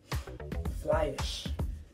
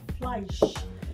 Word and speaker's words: Fleisch: And, Fleisch. That's how you say it in German. Fleisch. How do you spell it? F-L-E-I-S-C-H.